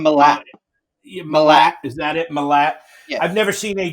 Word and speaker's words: Milat: Milat.